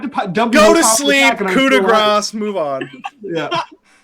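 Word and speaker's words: coup de grâce: Go to sleep, coup de grace, move on. Yeah. It's pronounced. It is said "Coupe de Gracie."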